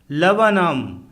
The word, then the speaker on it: Laburnum: LABURNUM लवनम अर्थात अमलतास का पेड़, इसमें 2 बार U फॉर अम्ब्रेला आया है तथा R फॉर रैट साइलेंट है।